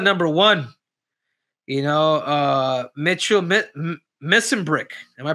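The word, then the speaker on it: Mesenbrink: You know, Mitchell Missenbrick. Am I pronouncing it right, Adolf?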